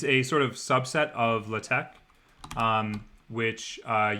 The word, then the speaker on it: LaTeX: sort of subset of la tech um which uh you probably you know most of you will probably know as latex um only nerds pronounce it latex but that's uh how it's pronounced um so i'm i